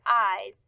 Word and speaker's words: eyes: eyes in the word eyes it is spelled e y e s the e y make the long i sound that says i and the e s says makes the z sound so when you put